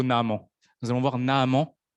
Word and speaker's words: Naaman: mais nous allons voir Naaman ou Naaman, selon les prononciations. Mais moi, je dirais plutôt Naaman.